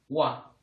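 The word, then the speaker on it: ㅘ: Esta letra, como puedes ver, es la combinación de U más A. Así que se pronuncia wa.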